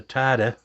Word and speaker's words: Tydeux: This is the Tydeux, and I did Google that, and that's how you pronounce it. It's Tydeux sports optic.